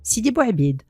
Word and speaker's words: Sidi Bouâbid: Il est appelé, selon la prononciation populaire, Sidi Bouabid, en référence à sa kunya, Abou Ubaid, à laquelle on ajoute l'adjectif al-Sharqi, l'oriental.